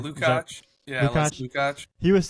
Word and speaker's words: Lukács: Lukács.